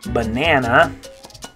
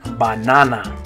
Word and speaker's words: banana: Notice with that in English, all those A's make kind of different sounds. Banana. I guess it's banana. But in Spanish, they're all going to make an ah sound, every single one. Okay, so it's going to be banana.